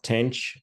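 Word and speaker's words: tanh: sigmoid function and then this hyperbolic tangent or Tang as we pronounce it is basically defined as taking this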